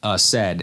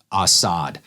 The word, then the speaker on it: Asad: It's just, I heard it said that way before by someone I trust, and they said it's pronounced Asad and not Asad.